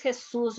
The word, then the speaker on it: Jesus: you my name is jesus you are not going to tell him jesus you have to pronounce jesus is not grandero